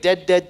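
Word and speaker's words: Dead, Twice: word twice wait wait dead dead twice no it's called you say it dead dead but it's spelled dead comma twice that that that seems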